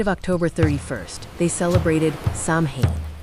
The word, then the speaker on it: Samhain: On the night of October 31st, they celebrated Sam, pronounced Sain.